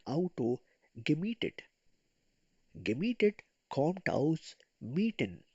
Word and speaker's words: mieten: Gemietet kommt aus mieten. Pronounce it me.